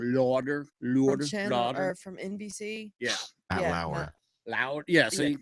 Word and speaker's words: Lauer: Matt Lauder? Is that how you pronounce his last name? Lauder. Or from NBC. Yeah. Lauer.